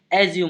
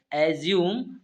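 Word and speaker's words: assume: ध्यान रखेंगे इसका जो हिंदी उच्चारण होता है एज्यूम होता है। इस वर्ड को अंग्रेजी में क्या पढ़ेंगे? अज्यूम पढ़ते हैं।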